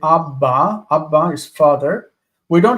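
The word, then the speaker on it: אבא: It is doubled, but don't pronounce it as doubled. Like in English. In English, we say better. We don't say better. Better. There are two T's, but you don't pronounce two T's.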